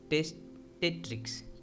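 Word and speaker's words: testatrix: Alright, इसको pronunciate कैसे करोगे, टेस्ट, टेस्ट के बाद थोड़ा सा पॉज, टेस्ट, टेस्ट, टेट्रिक्स, टेस्ट, टेट्रिक्स।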